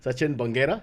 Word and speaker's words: Bangera: So, Bangera. Yes. That's how we pronounce it.